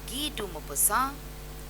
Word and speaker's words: Guy de Maupassant: Now there are different ways in which people pronounce it, but in French, France, if you go, you will hear people saying Guy de Maupassant, or you will hear them saying Guy de Maupassant.